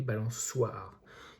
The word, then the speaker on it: balançoire: balançoire, on avait aussi le C cédille pour ne pas faire le son que. Donc au lieu de balançoire, on a bien écrit balançoire. Ici, on voit que le C devant le A se prononce K, le son. Et donc, ici, pour ne pas avoir la même chose, on a mis une cédille sur le petit C. Et nous avons bien le son S.